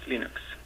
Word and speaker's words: Linux: Hello, this is Linus Torvalds and I pronounce Linux as Linux.